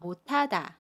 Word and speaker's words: 못하다: 두 소리가 합쳐져서 티읕으로 발음해요. 그래서 못하다, 라고 발음해요.